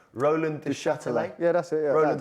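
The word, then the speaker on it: Roland Duchâtelet: Roland de Châtelet.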